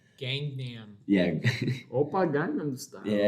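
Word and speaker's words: Gangnam: one as a Korean person and being to gangam which is the correct pronunciation of it which is like obvious like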